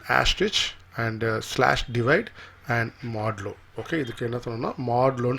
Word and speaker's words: modulo: இது பர்சன்டேஜ் கிடையாது, இது எப்படி ப்ரொனவுன்ஸ் பண்ணுன்னு கேட்டிங்கன்னா மாடுலோ.